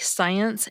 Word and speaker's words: science: The short answer is that in words like science and scent, SC is pronounced like an S phoneme, or a unit of sound.